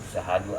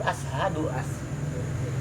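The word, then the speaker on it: أشهد: Seperti ashadu kan bacanya, terkadang orang itu syahadu Allah banyak kan, syahadu Allah mana a-nya hilang kan. Iya. Kan itu ashadu ashadu.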